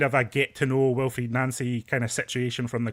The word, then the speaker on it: Wilfried Nancy: Josh Wilfried Nancy, that that's the official pronunciation coming out of Celtic from yesterday.